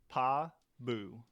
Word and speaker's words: Pabu: 2 syllables. Pa-boo. And there's Pabu, who is a fire parrot.